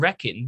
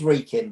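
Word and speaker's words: Wrekin: was representing telford and reckon the local liberty democrats were the ones it's pronounced reeking but carry out sorry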